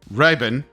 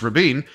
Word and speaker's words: Rabin: Contact these would be the USS rabina right sorry Raben no Rabin no no sorry I couldn't resist one last joke I know how to pronounce it it was named after